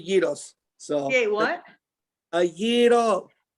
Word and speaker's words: gyros: He Euro, and I'm Greek, so he can't pronounce it. That's okay. I don't fault him at all for not being Greek. It's not his fault. But we say gyros.